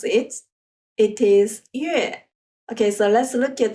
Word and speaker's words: 月: moons or months do you remember how to pronounce it it is yeah okay so let's look at the story for